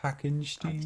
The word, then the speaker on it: Hackenstein: Pronounced Hackenstein.